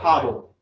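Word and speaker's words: HODL: they pronounce a quad or do they just spell it out? Hodddle. Oh, hodddle. Yeah. So, one time someone in in the um one time someone in the Bitcoin sort of message boards misspelled hold hodddle and it became like a meme and like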